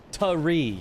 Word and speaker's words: tree: Tree, yeah, like, it's not, so, while it's written tree, well, it's written with a T, and, like, everyone, you know, is like, oh, yeah, it's, you know, T-R-E-E, that's how you say it. And, like, you feel like that's, you're saying it with a T sound. When your mouth actually does it, it's more of a CH sound.